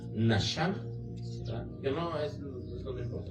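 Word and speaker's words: נחם: Y la palabra arrepentirse, de justamente de estos versículos que estamos hablando, es del hebreo, no lo sé pronunciar, pero es Naham, que según eso se pronuncia Nasham, ¿verdad?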